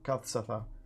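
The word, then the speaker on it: Kad-Satha: The last entry just says in big bold letters, Kad Satha, which is spelled like KAD hyphen or dash SATHA, Kathsatha.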